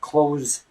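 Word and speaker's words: clothes: sound after s like close close the door close the door well it's pretty much the same you gotta imagine that the th is actually a D so instead of saying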